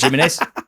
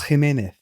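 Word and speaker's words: Jiménez: Kieran Trippier and Raul Jimenez. You don't say it like that. Jimmy Nesbitt have signed for Wolves. Normally, it's good. It's Raul Jimenez. Jimenez.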